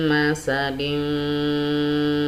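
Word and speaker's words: مسد: ya, ada kata masad, tetapi ketika ini diwasol atau disambung, maka tanwin ketemu ba, ini hukum bacaannya adalah apa ya, iklab ya, hukum membacanya adalah iklab. Jadi harus didengungkan ya, masuk ke rongga hidung ya. Mim masadin bismillahirrahmanirrahim qul huwallahu ahad ya. Jadi iklab, kemudian tanwinnya berubah menjadi bunyi min ya, mim dim, tetapi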